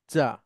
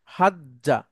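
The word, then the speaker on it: حَجَّ: একসাথে করে নিয়ে আসা হাজা সরি হাজ্জা তো এই দুইটা জিমকে আমরা একটা জিমে রূপান্তরিত করবো একটা তাসদিদ দিলেই এটা বোঝা যায় হাজ্জা তাহলে আমার সাথে হেলেন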